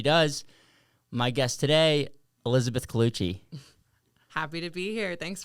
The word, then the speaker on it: Cloutier: My guest today, Elizabeth Cloutier. Happy to be here. Thanks for having me. And how did I do in the name? You killed it. There's a lot of different pronunciations, but Cloutier.